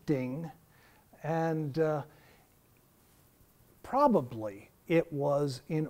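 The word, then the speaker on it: 丁: is a circle um it has a pronunciation in chinese is ding and probably it was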